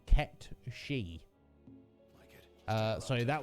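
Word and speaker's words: Cait Sith: uh uh kate sith i always thought that was correct correct pronunciation no apparently it's uh it's gaelic uh according to metapod who i trust uh and the correct pronunciation of that word is kept she my god uh so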